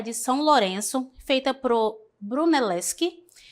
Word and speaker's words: Brunelleschi: Tenho o primeiro aqui, deixa eu só confirmar aqui a pronúncia dele, tá? É Brunelleschi.